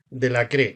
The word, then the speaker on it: Delacre: hablar francés Así que acá en Argentina le decimos del acre tú le pusiste el acento en la e en francés supuestamente la